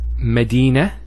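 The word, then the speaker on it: مدينة: that that doesn't occur here the word is Medina and notice one thing I didn't mention the I actually pronounced the as a now if I stop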